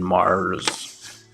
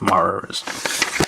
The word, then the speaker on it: Marz: bought it because it's called cyber Troopers virtual on Mars you have to say it like that Mars and yeah anyway uh